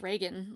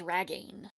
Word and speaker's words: Reagan: So my last name is pronounced Reagan, like the president, but voiceover says Ragain.